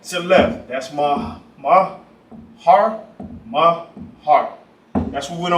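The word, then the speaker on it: מהר: How you say it in the Hebrew is mahar, mahar.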